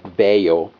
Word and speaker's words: Vaio: um an older laptop it's a Sony voo some people pronounce it beo um the model number